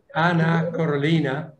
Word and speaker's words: Anna Carolina: speaker but not least anna corollina am i pronouncing your name correctly yes correctly uh dr anna carolina